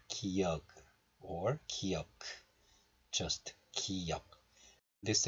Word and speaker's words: 기역: But when you pronounce this last sound in Korean, you don't release the sound fully, like 기역 or 기역. You just have to close the syllable, like a glottal stop.